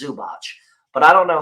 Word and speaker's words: Zubac: I know how to say last name it's zubach but I don't know how to say the